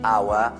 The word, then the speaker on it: hour: Ci sono delle eccezioni, per esempio ora si dice hour, in questo caso non si pronuncia, ma quelli dove si pronuncia l'H ci deve essere.